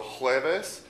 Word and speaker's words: jueves: So jueves, J-U-E-V-E-S.